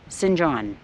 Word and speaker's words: St John's: he said for example St John's is pronounced sinjan or sin Paul sin